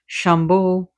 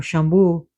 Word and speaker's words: Shambhu: Shambho or Shambhu, depending where you're at, where you're at and how you're going to pronounce it.